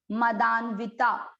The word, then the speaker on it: मदान्विता: ये आधा न दिख रहा है, इसको दा के साथ पढ़ा मदान, व पर ई की मात्रा लगाई वी, फिर बचा ता, मदान्विता। मात्रा छोटी है इसलिए उच्चारण जब आप राग से करें तो उसको बड़ा न करें, ता।